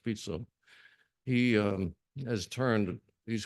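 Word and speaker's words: Fico: fito his name is fito fic but it's pronounced fito he um has turned he's kind of an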